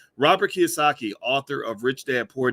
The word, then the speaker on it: Kiyosaki: why am i why am i saying his name wrong um kiyosaki robert kiyosaki there we go boys let's get it right robert kiyosaki author of rich dad poor dad actually gave